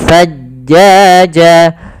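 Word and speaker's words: ثَجَّاجًا: Maka ma'an-thajjaja, pada lafal antha di sini ada ikhfa, yaitu adanya tanwin bertemu dengan huruf tha. yang mana ikhfa itu kan ada hurufnya ada 15. Salah satunya adalah tha dan zai tadi di awal. Maka cara membacanya langsung samar ke tha.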